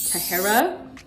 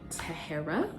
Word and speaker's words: Tahara: Tahara. Say it with me now. Tahara. That is how you say my name.